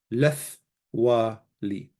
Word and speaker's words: lethwali: So now, not only is the lemeth always pronounced, when you say lethwali, the tau, letli, or letti, the tau is softened, lethwali. So it's lethwali, lethwaluch, lethwalach, lethwale, lethwala, lethwalan, lethwalochen, lethwale, to say we did not have, and so on.